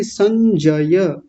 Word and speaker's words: संजय: को सज सज उवाच सज नहीं संजय संजय हुआ एक बार में ठीक